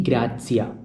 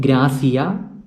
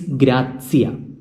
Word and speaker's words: grazia: Please note the pronunciation. It is not grazia, but it is grazia. The Z sound. The Z sound should be pronounced correctly. Grazia.